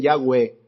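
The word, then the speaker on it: Yahweh: pueden pronunciar y que significan o que se pronuncian yagüe fueron traducidos por la palabra curiosa eso quiere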